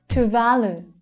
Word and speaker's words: Tuvalu: Tuvalu, Tuvalu. The second syllable is the strongest one, and they're all long vowel sounds.